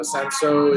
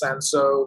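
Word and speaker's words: Cinsault: to see single varietal sanso wine so i think people don't really know it or they don't know how to pronounce it being spelled c-i-n-s-a-u-l-t but sanso is a very uh so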